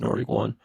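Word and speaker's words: Nord1kOne: So, but it's pronounced Nordic One.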